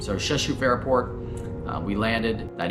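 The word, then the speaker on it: Rzeszów: in your head now it's actually pronounced chashuf is how you pronounce that airport so sheshu airport uh we landed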